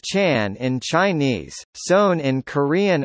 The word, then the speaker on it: Chán: wrathful deities you topic Zhen Zen Buddhism Chan pronounced Chan in Chinese sewn in Korean our Zen in